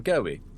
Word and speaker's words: Gobbie: I'm uh Well, I'm Goey. Pronounced like the fish, but uh spelled a bit differently.